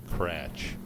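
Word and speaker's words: Kratzsch: Kratch, spelled Krattzsch. I had to spell it for you just to let you know what I'm up against.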